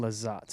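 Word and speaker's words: Lizotte: or even the uranus it's simon lizzat ah okay it's because they spell it different over there yeah that's fair oh the e is silent uh yep that's what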